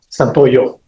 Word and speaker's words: Santoyo: Santoyo. Santoyo. Yes, ma'am. Okay. I think it rhymes with yo-yo.